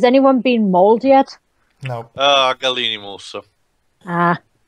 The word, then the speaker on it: Gallimimus: Gallimimus. Ah. It's pronounced Gallimimus, but yeah, sure.